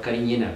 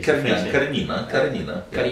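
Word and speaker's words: Cariñena: a beautiful vineyard of Carignana vines. Okay. You pronounce Carignan here. Carignana. Is more, you know, it's a Spanish grape. You sure. Can say Carignana. It's more, right. More macho. No?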